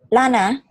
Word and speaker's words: lana: This is an L, not an I. So L, lana.